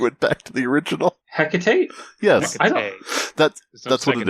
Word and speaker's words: Hecate: No, I just was, after we went through that whole tangent on pronunciation. Then you went back to the original. Hecate?